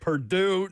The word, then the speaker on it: Purdue: Number five, they do not pronounce the name of this school correctly in Babs's house. Oh, Perdont. Purdue.